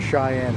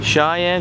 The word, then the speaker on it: Cheyenne: Cheyenne. Cheyenne short box.